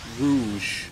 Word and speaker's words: Rouge: I would read it as Rogue because it has the U in it, right? Does it have the U in it? Yeah. Yeah. But I've heard people pronounce it Rouge.